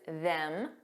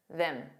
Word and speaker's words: them: Let's talk about the pronunciation of them because there's a strong pronunciation which is them. But there's also a weak and unstressed pronunciation. them them. So it's just that vowel sound that sounds more relaxed and unstressed.